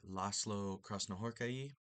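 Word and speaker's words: László Krasznahorkai: So the Sz in Hungarian sounds like S and then an S by itself in Hungarian sounds like sh. Um, if you're familiar with Polish orthography, it's the opposite of Polish for those two sounds.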